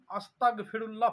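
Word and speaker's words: أستغفر الله: আমাকে এরকম বলতে হবে আস্তাগফেরুল্লাহ অনেকজন পড়ে আস্তাগফিরুল্লাহ আস্তাগফিরুল্লাহ আস্তাগফিরুল্লাহ মানে আমাকে কাফের করে দাও ক উচ্চারণ হবে না গ উচ্চারণ হবে আস্তাগ মানে আমাকে পবিত্র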